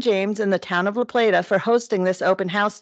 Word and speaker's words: La Plata: I've heard it pronounced both ways, but I go with La Plata.